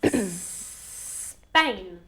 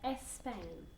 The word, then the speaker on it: Spain: In Like a snake, okay? Spain. I don't want to hear Spain.